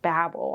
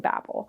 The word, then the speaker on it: Babel: So now we have Babel, which turns out it's pronounced Babel. I watched one of her videos, R F Kuang's interviews, and she was saying Babel. So we're saying Babel.